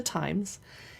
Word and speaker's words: Thames: And I hope I'm saying it right because it's almost spelled like the Thames, which is a river in London that's not said the Thames. Anyway, it's by the Times.